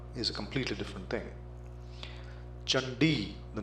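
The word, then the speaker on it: चण्डी: a completely different thing chandi the name of devi c-a-n-d-i you are bound to pronounce it as candy which is totally different from chandi chakra becomes kakra gatcha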